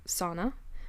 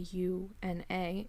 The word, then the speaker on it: sauna: word uh s a s-a-u-n-a is sauna because they pronounce the the vowels like that so i i choose